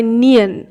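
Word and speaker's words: 니은: ঠিক আছে, এবার নেক্সট যে ব্যঞ্জনবর্ণটি রয়েছে সেটিকে বলা হয় নিয়ন। এই নিয়নের আমাদের বাংলা নয়ের মতো উচ্চারণ, না না।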